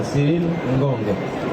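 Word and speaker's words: Cyril Ngonge: Si pronuncia Cyril Ngong.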